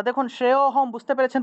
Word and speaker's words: শ্রেয়োহম: শ্রেয়োহম শ্রেয়োহম এইভাবে অর্থাৎ শ্রেয়টা একটু টান দিয়ে উচ্চারণ করলেই অটা চলে আসে এটাকে কে আলাদা করে ও উচ্চারণ করতে হবে না সেজন্য শ্রেয়হাম গত পিবা